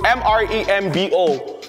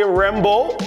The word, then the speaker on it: Mrembo: So it's M-R-E-M-B-O. Some languages say Rembo or Mrembo or Membo. Because I don't know the language, but the way they used to pronounce it used to change.